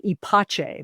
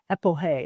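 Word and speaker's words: epoché: It looks like epipache, but it's epohe is how you pronounce it.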